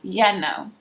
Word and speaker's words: you know: would be you know so you were pronounced this one with y eh ya know ya know but you would never write it this way you would still write it the regular you know and you can